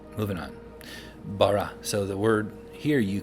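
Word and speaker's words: ברא: You have to put a default A. That's why we would say in modern Hebrew, Bara, and in ancient Hebrew, Bara, because you put a default A in there.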